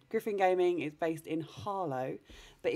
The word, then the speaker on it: Harlow: gaming is based in harlow but if you're from harlow you don't pronounce the ha because that's way too much effort so it's just arlo arlo because in essex we